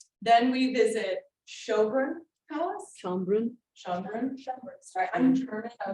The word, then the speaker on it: Schönbrunn: Schönbrunn.